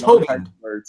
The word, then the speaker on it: Hovind: Yeah, he was mispronouncing. Yeah, and it's Hovind.